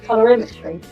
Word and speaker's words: Colorimetry: So can you pronounce it? Clarity Colorimetry.